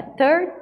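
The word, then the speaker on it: thirteen: Enquanto as sílabas são igualmente tônicas nos números com TIN. Então, é 13.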